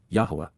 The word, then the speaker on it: Yahweh: Yahweh Yahwa, the proper pronunciation of the name of Eloha, God as directed in his Torah, teaching regarding his haya.